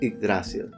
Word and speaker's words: Yggdrasil: And they've also got some amazing t-shirts, such as this one representing the, let's try and use Old Norse pronunciation, Yggdrasil.